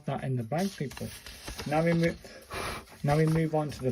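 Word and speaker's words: ん: it's this one, and this is a N, pronounced like just the N in sound in ink.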